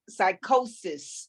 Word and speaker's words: psychosis: S, psychosis. That's Even it. though it sounds like Even though the P is silent.